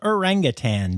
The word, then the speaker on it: orangutan: 19th and that's World orangutan day make sure you say it right and don't add that g folks then on the